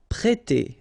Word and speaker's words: prêter: We've got here this accent circumflex on the top of E, so if you remember carefully, it will produce the sound E, so really open, E, so prêter, prêter.